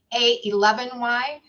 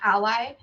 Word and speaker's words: a11y: familiar with the hashtag a11y i'm it is actually pronounced a 11y and not ally and the meaning behind